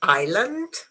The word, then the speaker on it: island: The S is silent in this one, this one, but not in this one. Very good. is false because island isle and isle.